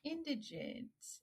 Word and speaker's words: Indigent: I'm like, okay, so indigenous, So if you could tell our viewers real quick how to pronounce the title of your book. It's pronounced indigent, and I picked a word no one knows on purpose, so you're fine.